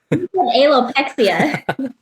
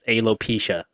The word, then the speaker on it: alopecia: alopexia. So I just You said it added, right just now. The correct way to say is alopecia.